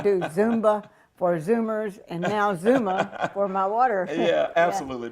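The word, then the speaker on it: Xooma: o m a so how you pronounce that Zuma Zuma yeah Zuma worldwide Zuma worldwide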